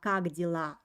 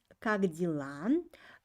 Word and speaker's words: как дела: When you pronounce как дела, try to make e sound very, very soft. It's pronounced like и.